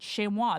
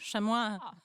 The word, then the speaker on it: chamois: And she pronounced that word, chamois, the entire that's time. how I would pronounce it too. Yeah, you're like the French, chamois.